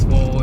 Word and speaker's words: SVV_0LE: Yeah, it's Swole. It's just it's SVV_0LE, but it's spelled out Swole.